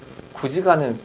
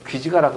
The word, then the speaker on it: 구지가: 근데 구지가는 귀지가라고 하면 틀리겠지만 왜 구지봉이니까요.